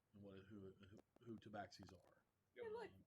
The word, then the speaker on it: tabaxi: Honestly, being from Forgotten Realms in Faerun, you all would know what a tabaxi looks like and who tabaxis are.